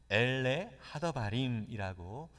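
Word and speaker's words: אֵלֶּה הַדְּבָרִים: 여러분 신명기는요 히브리어 원래 원어인 히브리어로 이 신명기라고 하는 제목은 엘레 하더바림이라고 읽습니다.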